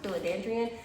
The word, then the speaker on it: Philodendron: have is this philodendron I think it's how it's pronounced philodendrian her name is the